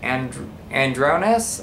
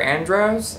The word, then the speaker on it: Andros: All right, so the next question comes from, and I might pronounce this wrong and I'm sorry, is it Andronis or Andros? Andros, hopefully.